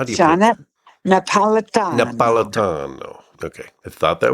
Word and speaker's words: Jeanette Napolitano: How do you Jeanette Napolitano. Napolitano. Okay. I thought that was the pronunciation, but I just wasn't sure.